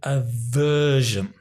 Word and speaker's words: aversion: really don't like it notice the pronunciation it's have an aversion notice the really exaggerate